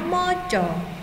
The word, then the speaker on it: maca: Nina seneng moco moco tulisannya maca ya karena dalam bahasa Jawa dibacanya moco kemudian pertanyaan yang kedua